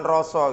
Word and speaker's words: Rousseau: Jadi misalnya Rousseau, Zhang Zak, Rousseau, tulisannya kan panjang begitu kan, bacanya cuma Rosso gitu aja, mirip bahasanya Mbah Marijan ya, Rosso, Jean-Jacques Rousseau ya.